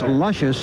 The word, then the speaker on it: Lucius: Hearst the six horse spelled Lucius pronounced luscious and she has been